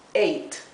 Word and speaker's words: ate: La A, cuando está seguida de una consonante y luego de una vocal, ¿verdad? Se pronuncia el sonido largo de la A, es ei. Por lo tanto, esto se lee ate. La última E es muda, ¿bien?